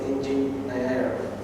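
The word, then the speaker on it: ingeniare: I will dare to pronounce it. It's ingenier. Ingenium means cleverness.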